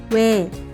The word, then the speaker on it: 왜: 오, 아, 와, Next we have 왜, It's a compound vowel, but don't pronounce it as 2 individual sounds because the vowel is in 1 syllable. 왜, 왜, You might hear 왜,